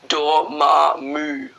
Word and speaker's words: Dormammu: the Dark Dimension with doll mommy moon I don't know pronounce it Dormammu door like like a door in the wall in there MA like mommy ma like duel mommy